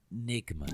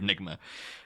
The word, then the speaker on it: Nygma: they were ni GMA so it's like you can't miss the e nygma part of it yeah and it was